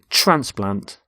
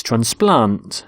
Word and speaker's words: transplant: both nouns and verbs we stress the first syllable in a noun and the second in a verb so the noun is transplant so a heart transplant but with a verb it's transplant so the doctor transplants hearts and here you can